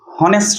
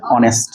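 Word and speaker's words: honest: এটা হনেস্ট নয়, এটা হচ্ছে অনেস্ট, যার জন্য কি হচ্ছে এখানে এর সাউন্ড যেটা রয়েছে।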